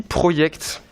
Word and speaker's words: Projekt: Je vais vous parler de CD Projekt. Alors ouais, ça s'écrit Project, ça se prononce Projekt.